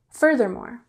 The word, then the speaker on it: furthermore: Furthermore has the emphasis on the first syllable, furthermore. So it's similar to moreover, but it's used in a more formal context.